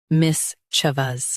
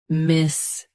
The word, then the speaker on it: mischievous: Mischievous. Both US and UK have the same pronunciation of this word. Stress mis. Keep ch soft, then vous clear. Mischievous. Mischievous. Stress mis. Keep ch soft, then vous clear.